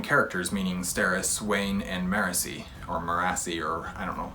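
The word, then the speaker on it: Marasi: meaning Steris Wayne and marisi or or I don't know I think I've always called it morassi and I think everybody else pronounces it mercy so whatever uh Wayne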